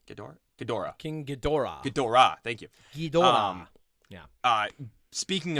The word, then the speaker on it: Ghidorah: So think King Ghidorah from Godzilla. Wait, is that how you say it? Ghidorah. King Ghidorah.